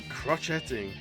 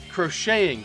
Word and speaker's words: crocheting: dead lovely wholesome man crotch heading crushing crocheting that's how you say it words